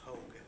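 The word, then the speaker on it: Haug: The first name is, S-C-O-T, and the last name is H-A-U-G, pronounced Hogue.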